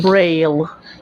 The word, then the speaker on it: Braille: to read and type bra how do you pronounce this Braille yeah Braille bra is a special race type